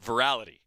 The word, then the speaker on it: virality: But virality is apparently the proper pronunciation.